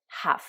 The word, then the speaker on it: half: En revanche, là, il y a le L qui est muet, donc on va dire half et pas half.